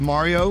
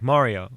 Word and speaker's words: Mario: your name I'm like Mario I said Mario and he says no Mario so I mean in the sort of Italian pronunciation of Mario I think that Mario